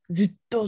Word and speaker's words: ずっと: How do you pronounce this one? ずっと。はいはい、ずっと。 Hi, hi. Zutto, zutto.